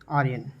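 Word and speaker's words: Orion: और general ओरियन जो है इसका प्रोनाउंसिएशन है ओरियन, ठीक है।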